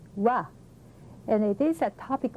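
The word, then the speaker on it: は: yellow character it's written like that and it's pronounced wah and it is a topic marker and its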